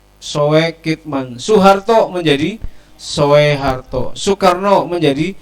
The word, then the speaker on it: Soekitman: berkaitan dengan tema kita sukitman tulisannya sesuai kitman karena dulu ejaannya adalah ulama itu adalah u itu menggunakan oe soekitman Soeharto menjadi Soeharto Soekarno